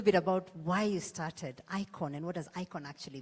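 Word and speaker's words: IAOJN: how to say it so my brand is icon and you actually spell it I a o j n because it's my name backwards and the J is silent right so I started the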